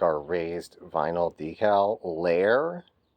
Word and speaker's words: Lehr: our raised vinyl decal Lair sometimes pronounced Lear of the lir instruments custom shop